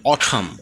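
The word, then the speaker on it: autumn: যে লেটারটি আছে এটি মাঝে মাঝে বিভিন্ন ওয়ার্ডে সাইলেন্ট থাকে এরকম কয়েকটি ওয়ার্ড আমরা এখানে নিয়েছি চলুন শুরু করি যেমন অঠাম অঠাম মানে হেমন্ত এন্ড ড্যাম ড্যাম মানে অগ্রাহ্য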